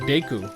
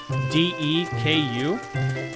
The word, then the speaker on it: Deku: correct pronunciation was deku which is what we would say if there were two k's in dutch so yeah you'll hear